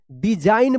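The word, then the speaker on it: design: एन से पहले जी है तो जी साइलेंट रहेगा। डिजाइन पढ़ेंगे।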